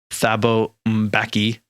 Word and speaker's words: Thabo Mbeki: So the first one is that the president of South Africa from 1999 to 2008, whose name the internet told me is pronounced Thabo Mbeki, was persuaded by an